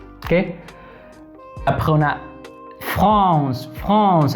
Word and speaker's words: France: France. Aquí es France. ¿Ok? FR. France. Desde la garganta. France. France. ¿Ok? Aquí esto produce un sonido S. Como el español.